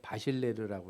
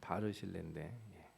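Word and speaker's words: 바르실래: 제가 자꾸 이 사람 이름 읽을 때 바실레르라고 읽었던 기억이 나요. 그 이름 자꾸 뒤섞어서 읽는 경우 있잖아요. 바르실레인데 이 바르실레 얘기를 하려면은 이게 스토리가 되게 복잡하기도 하고 재밌기도 해요.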